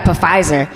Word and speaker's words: Pfizer: My mama gonna call me, she's like, yeah, I got Pfizer. Mama, the P is silent.